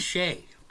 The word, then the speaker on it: Shay: Dan and It's not Shay. country music. What does Shay rhyme with? Play. Clay. Put a G and take the C off.